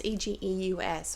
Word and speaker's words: Egeus: Okay, you've got Hermia, I'm not sure on the pronunciation, but she is the daughter of Aegeus, or Aegeus. It's Egeus, okay?